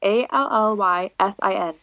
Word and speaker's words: Allysin: It's Allysin. Like sin. Like maiden sin.